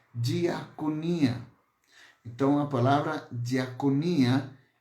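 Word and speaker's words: diakonia: a palavra Ministério a sua raíz vem de uma palavra grega esse que ser feliz e se pronunciasse dia coninha então a palavra diaconia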